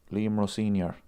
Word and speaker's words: Liam Rosenior: Chiao Liam Rosenior. That's how you pronounce his name.